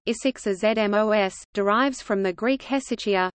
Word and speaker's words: ἡσυχασμός: Hesychasm, Greek, Hesychasmos, contemporary Byzantine Greek pronunciation, Isixazmos, derives from the Greek